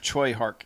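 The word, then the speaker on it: Tsui Hark: Robert in the chat has said Choi Hark is the correct pronunciation.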